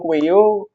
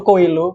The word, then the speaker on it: Coelho: ditulis oleh Paul pauloo Jadi kenapa di sebut sebagai Paulo kueyo bukan Paulo koelo karena beliau ini berasal dari Brazil jadi pelafalan l-nya ini diabaikan jadi pembacaannya yang benar adalah Paulo ko nah beliau lahir pada